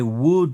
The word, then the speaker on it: would: I'd like c'est I would like. Et le l dans would ne se prononce pas would.